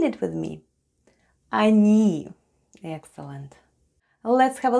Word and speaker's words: они: It's unstressed and is pronounced as /a/ Then we have /n/. And /ee/ and all together it's ОНИ /anee/. Try saying it with me: ОНИ /anee/.